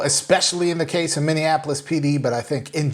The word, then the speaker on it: Minneapolis: through that story and pronounce Minneapolis correct because I'm one of the ones who grew up saying Minnie Annapolis I don't know where